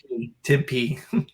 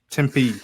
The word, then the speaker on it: Tempe: it tempt tempe arizona's temp how do you pronounce that tempe tempe arizona well let's take a look at the